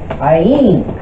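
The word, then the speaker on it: עין: The letter Ayin, which in English is spelled Ayin, it's pronounced how it is spelled.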